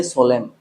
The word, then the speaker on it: solemn: I don't say solemn, I say solemn. I don't say autumn, I say autumn. तो यहाँ पे what we get to know is if you use n just after m, then it goes silent.